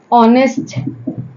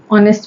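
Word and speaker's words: honest: मैंने आपको बताया कि एच यहां पे हमारा साइलेंट है जैसे एच हमारा ऑनेस्ट में साइलेंट है आवर में साइलेंट है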